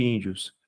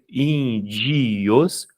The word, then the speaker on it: índios: a pronúncia natural de índios a gente pronuncia indios ou a gente fala índios índios índio índios tios tios eu tenho o i sendo uma semivogal índios matéria fica fácil